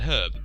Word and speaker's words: herb: to say herb because in British English which is basically English anyway um herb well it's said it's said herb it's not said herb and to be honest herb I don't like the silent h but I I I've heard that in America it is not oh God it is not that um and you say it herb so from this from